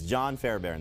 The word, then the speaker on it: Fairbairn: Beathard will help the Cardinals VSP can you pronounce the houston kickers full name they're playing dallas his full name though it's it's john Fairbairn though if you want to go John Wesley